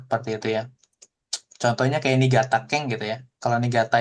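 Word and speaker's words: 新潟: Harusnya kan ini shin ya bacanya ya. Iya. Heeh. Tapi ini atarasi jadi nigata gitu ya. itu special case makanya suka dia heeh dibaca jadi ni gitu ya ada lagi nih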